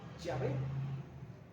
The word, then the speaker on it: Yahvé: Y si se pudieran mencionar, ¿verdad?, tendrían que mencionarlas como Yahvé, no como Jehová.